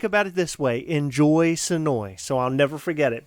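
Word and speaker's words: Senoia: Sonoy. Sonoy. The devil went down to Georgia. It's spelled like Sonoya, and we kept saying that, and the woman's like, that's not how it's pronounced.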